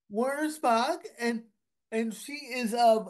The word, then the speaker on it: Wernersbach: Warner Spock. Warner Spock.